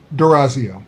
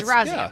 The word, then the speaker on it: D'Orazio: Durazio. That's what I was saying. Yeah, Durazio, right, that's Dave? simple. Okay, so all right. Just like it's spelled, except there's an apostrophe there that trips everybody up.